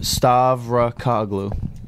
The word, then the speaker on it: Stavrau: It's pronounced Stavrau. My last name is phonetic. You can break it up into syllables. There's no hidden pronunciation.